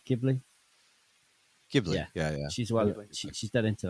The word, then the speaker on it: Ghibli: Is it Ghibli or Ghibli? Ghibli. Ghibli. Yeah. She's dead into that. She turns 16 next week. Damn, bro. That's just wild, mate. Wow, sweet 16. Hey, Studio Ghibli is some wholesome shit.